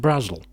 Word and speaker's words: Brazil: were by an author an author called angela brazil spelt as in the country but was apparently pronounced brazil and apparently these were some of the earliest